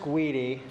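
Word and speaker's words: GUDI: it guii I don't know yeah it's it's pronounced guidi um says you we I know well that's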